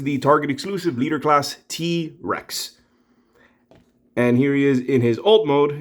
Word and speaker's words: T-Wrecks: target exclusive t-rex and that's rex with a w instead of an r although his name does have an r but it's a silent w yeah english can be